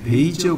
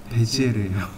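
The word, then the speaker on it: Bézier: 베이지어는 프랑스 사람입니다. 그러니까 프랑스식으로 부르면 베지에르예요.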